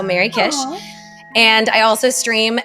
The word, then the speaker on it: Merrykish: Well, I am on most major social channels, Twitter, Instagram, Blue Sky, under my name, but it's spelled MERRYKISH. So Mary Kish.